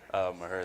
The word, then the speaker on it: Mexia: get the correct pronunciation because my grandfather called it Maher, Texas. I've heard people call it Mexia, Texas. So, Ahnre, where did you play high school basketball at? Maher, Texas. Maher, Texas. So my grandfather was almost right how to pronounce it correctly. So there you have it, the official way to pronounce Maher, Texas.